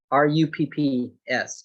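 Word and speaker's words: Rupp's: Johnny's Seeds and the other is rough seeds r-u-p-p-s rupps Johnny's is just like yeah Japanese so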